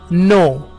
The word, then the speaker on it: know: उसमें पहला वर्ड है KNOW, नो, है ना, इसमें के साइलेंट होता है, इसे नो पढ़ते हैं।